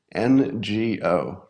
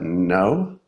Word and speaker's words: Ngo: Am I pronouncing his last name correctly? I've only read it. I've never heard it. Ngo. Does he pronounce that no? That's right?